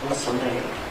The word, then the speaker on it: Soleil: I was doing a great job at the French pronunciation of your name, Soleil, correct?